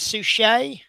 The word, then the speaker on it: Suchet: 25 years by David, I apologize if I pronounced this incorrectly, David Suchet? David Suchet? Yeah. So, is it Suchet?